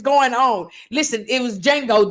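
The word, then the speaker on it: Django: on listen it was D Jango the D is silent uhhuh so they were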